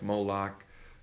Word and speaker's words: Moloch: Okay, this is basically just your In Hebrew, you don't have vowels, you only have consonants, so you have MLK, and however you want to pronounce that, Molech, Moloch.